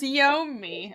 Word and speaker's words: Yomi: The name is Wyoming. Her name is Yomi.